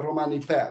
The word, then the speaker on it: romanipe: uh now Roman culture internally we call it a romanipe this is how you pronounce it it's the sorter version the longer version is Romani pen you just add an N at the end of the word and romantic culture for